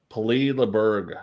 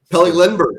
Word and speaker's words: Pelle Lindbergh: I cannot pronounce this motherfucker's name. Peli Leberg. Oh, Pelle Lindbergh.